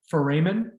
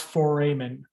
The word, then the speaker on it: foramen: hole is a um foramen it's pronounced foramen for amen heads up plural of